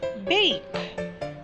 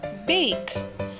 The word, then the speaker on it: bake: The word bake. Bake. Pronounced the same way, just like the words before. The E is silent also on this word.